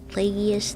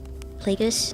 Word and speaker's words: Plagueis: Darth Plagueis the Wise? How do you say that? Plagueis? I feel like I'm saying that wrong. Plagueis?